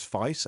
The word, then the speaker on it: Faiss: I scraped the website, tokenized it, and I put it in a local vector database running on something which I think you would pronounce as Faiss f a i s s.